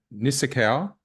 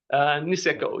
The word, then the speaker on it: Niseko: of experience working in Japan at Nozawa and Nisakawa. Is that how you say it? Niseko, yeah, close enough.